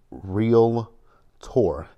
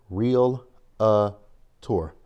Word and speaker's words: Realtor: real quick you guys the word is real tour it's spelled you spell it R e a l t o r real tour put them together real tour not real uh tour I don't know where people get that extra that a from in